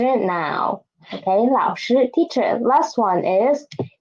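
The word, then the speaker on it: 老师: Okay, next one is 老师, a third tone and a first tone.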